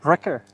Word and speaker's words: Ritter: Ritter.